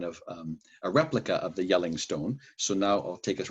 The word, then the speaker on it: Jelling: And I do that, you know, that's Jelling, Yelling Stones. Having only read about them, I mistakenly pronounced it like the national park where Yogi the Bear stole picnic baskets, Jellystone, until a Viking archaeologist I was working with corrected me. He said, "They're Yelling Stones."